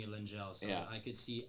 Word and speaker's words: Lengyel: It's it's Hungarian and it's pronounced Lengyel. So even Oh, I don't wow. even pronounce it the right way. Okay. But I grew up pronouncing it Lengyel.